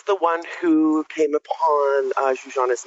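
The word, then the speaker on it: Zsuzsanna: I've been calling her Zuzana this whole time, and you taught me that it's Zuzana Budapest. Zuzana, yeah, like, again, that's my Hungarian heritage coming through with the European pronunciation.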